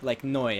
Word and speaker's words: Noi: But you look at things like Noi, I think it's pronounced. That's what they call it, anyways. I pronounce it New, but apparently it's Noi in its actual language.